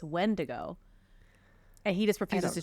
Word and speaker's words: Wendigo: He says like Wendigo. No, it sounds worse. I'm like, no, it's Wendigo.